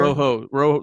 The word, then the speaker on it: Rojo: Rojo. Rojos. Rojo. That's how you say it.